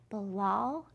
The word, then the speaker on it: Bilal: Our letter starts, Dear Miss Lara, my name is Bilal. My name rhymes with my favorite food, dal. So you'll remember rhyming words are words that sound the same. Bilal and dal, they both say all.